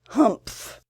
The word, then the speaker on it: humph: read this story aloud please pronounce humph exactly as it's spelt for that is how he said it do you know